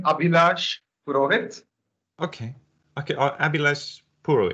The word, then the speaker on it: Abhilash: good at mangling names they pronounce my name abhilaj okay okay abby let's